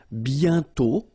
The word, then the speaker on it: bientôt: And then bientôt, okay? Remember, you put this accent circumflex, but you don't write it. You write it, but you don't pronounce it. And then the final T is not pronounced. Bientôt, okay?